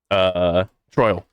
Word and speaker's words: Troil: Maybe I mispronounced his name. Troil. Excuse me, not Troll.